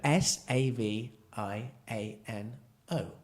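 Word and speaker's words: Saviano: VI a sorry I'll say it properly yeah SAV i N oh so Savino yeah yes anyway awesome and for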